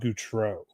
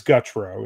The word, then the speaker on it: Gutro: I like Rob Goutreau. I believe it is very regal. Control. And but it is Gutro, is how he pronounces it.